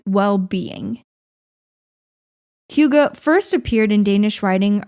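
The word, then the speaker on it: hygge: last few years but it's a Danish word pronounced Huga it's spelled h-y-g-g-e and this word while it didn't originate in the Danish language but in Old Norwegian it meant something like well-being Huga first appeared in Danish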